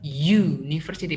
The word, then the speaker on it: university: Universitas itu bacanya adalah university, pakai y, berarti pakainya adalah a, university, nggak boleh pakai an ya.